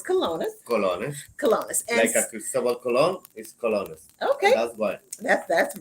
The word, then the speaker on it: colones: Rican currency is 534 kelownas to the U.S one dollar right so I'm pronouncing everything right it's colonos okay that's what that's